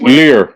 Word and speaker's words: livres: Lire. No, so that's francs. Well, spelled L-I-V-R. Yeah, lire. Okay. You don't pronounce the B.